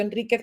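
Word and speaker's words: Enriquez: cuentos de Mariana Enríquez, que pronuncio Enríquez, pero no le he puesto la tilde porque, como bien me hizo ver José Manuel de Amo, ella no se la pone.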